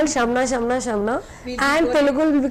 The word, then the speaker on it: Shamna: And akkada kuda audience kuda people used to call me, what's your name, Samala. They're not pronouncing Shamna.